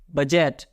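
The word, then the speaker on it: budget: हैं इज D silent उसी तरह बजट जी के पहले डी आ रहा है डी को पढ़ना नहीं है बजट गैजेट डी साइलेंट और एक भी तो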